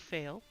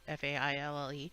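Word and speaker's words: faille: So I picked a silk fail. I have no idea how you say it, F-A-I-L-L-E. I think it's fail.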